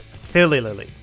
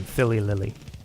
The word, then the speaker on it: Philly Lily: Taking the number 2 spot, some of you got it, is Philly Lily. And I have confirmed the pronunciation of her name, Philly Lily.